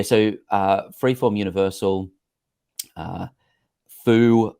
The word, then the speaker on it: FU: uh freeform universal uh Foo is how I pronounce it fu is how other people enjoy pronouncing it um but uh I